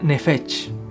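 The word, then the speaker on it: נפש: El alma en hebreo se pronuncia nefesh, y curiosamente es similar al nombre que ellos le dan a la garganta o al cuello.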